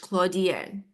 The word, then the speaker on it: Claudienne: Claudienne, it's French. Claudienne.